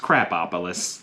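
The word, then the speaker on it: Krapopolis: And this is from Dan Harmon, the creator of Rick and Morty, which is why I'm so sure it's indeed pronounced Crapopolis.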